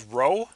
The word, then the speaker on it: rho: In this case, the new Greek letter here is rho, right here, spelled R-H-O, pronounced R-O-W.